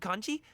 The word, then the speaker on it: congee: Want some more seafood congee? Let me refill your bowl. Congee, that's how you say it.